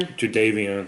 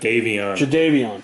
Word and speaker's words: Jadeveon: Jadeveon. Oh, is that how you pronounce it? Jadeveon. Like Dontavion.